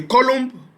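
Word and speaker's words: coulomb: to 6.24 * 10^ of 18 electron the column I mean column is spelled as c o u l o m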